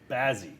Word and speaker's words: Bazzi: I said it, Bazzi.